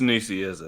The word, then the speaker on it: Nicieza: I'm not sure how to pronounce his name. It's weird. I'm sorry. I'm American. It's Nicieza. Okay. Good deal. Sorry, I had to take a sip real quick. So Nicieza.